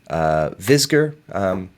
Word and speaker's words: Visger: Pronunciation tips for my name, Visger, is kind of how it sounds.